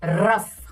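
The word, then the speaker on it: rough: हाँ, ऐसे OUGH अगर आप देखो उसके बाद अफ में निकलती है, फा एक तरह से साउंड हो जाता है। जैसे रफ हमने देखा हुआ है,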